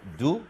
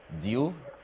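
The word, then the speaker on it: dew: بتنطق دو في الامريكان انجلش وديو في البريتش انجلش. ممكن نكتبها برضو كمعلومة يبقى ايه عرفتها، ديو او دو اللي هو الندى.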